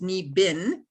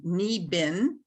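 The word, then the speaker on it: niibing: English spelling of the Ojibwe word which is knee bin so it's pronounced knee bin and it's spelled n-i-i-b-i-n-g so I thought okay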